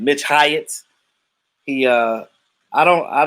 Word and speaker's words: Hyatt: we we uh yeah mitch hyatt like like hyatt it's spelled like the hyatt hotel h y atc um